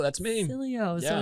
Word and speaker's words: Sileo: Silly with an O. That's me. Sileo.